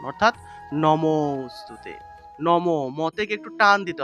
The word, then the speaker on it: নমোস্তুতে: করতে হবে এই যে আর আগের যে অংশটা থাকবে সেই অংশটাকে একটু টান দিয়ে উচ্চারণ করতে হয় অর্থাৎ লুপ্ত অ এর